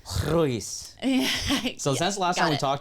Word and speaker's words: Ruiz: White person says Ruiz. What is it? But in Spanish, it's pronounced Ruiz. Ruiz.